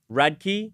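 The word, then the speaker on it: Radke: How do you pronounce it? Radkkey. Radkkey.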